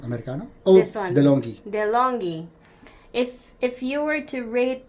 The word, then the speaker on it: DeLonghi: So if you rate the how do you pronounce this? Which one? Americano? Oh, This one. DeLonghi. DeLonghi.